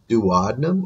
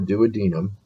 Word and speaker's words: duodenum: You can either pronounce it duodenum or duodenum, either way.